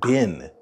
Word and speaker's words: been: been in somewhere and listen carefully for the vowel sound in the word bin bin in bin have you ever been to